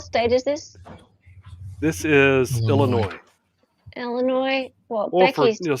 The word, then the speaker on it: Illinois: This is Illinois. Illinois. Well, Or for Becky's some of the taking a quick rednecks, trip. Illinois. Or maybe it's Becky's sister. The S is silent.